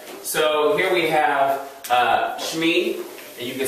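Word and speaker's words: שמי: name um i would say my name as shmee which is a contraction of shem and ani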